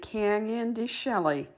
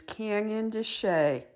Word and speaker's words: Canyon de Chelly: are heading for this adventure how would you pronounce it some might say can andy shelley as i did but that is not correct the correct pronunciation is canyon to shay on this adventure we are headed from